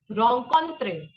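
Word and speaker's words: rencontrer: concrete what is it wrong constraint means to meet just clearly understand you're not pronouncing the last R it is okay which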